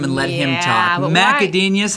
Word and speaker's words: Gudenius: We're going to talk to Matt Gudenius, and his name. Wow, easy for you to say. His name rhymes with genius, and I think he kind of could be considered a genius.